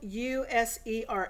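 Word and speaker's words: USERx: 10 inch is user it's spelled u s e r x but it's pronounced user um it's on atlantic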